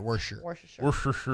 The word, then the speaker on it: Worcestershire: Worcestershire is hard to say. I'm just not saying that word. Just don't say Shire. If you say sure, it makes it easier. Worcestershire.